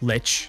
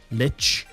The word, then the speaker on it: Lich: AIT which is pronounced Lich you say it as if it had a t before the C Lich um also sometimes called